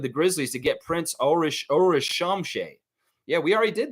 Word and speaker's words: Ulrich: Cool Cat's saying it's pronounced Ulrich. Ulrich. Yeah, I mean, that's what they were saying over there, Coach Joe. So, yeah, Ulrich.